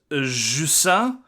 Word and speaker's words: Jusant: We are then going to go on to discuss Jusant. That is how it is pronounced in French. In English, Caitlin, how would you say it? Jusant?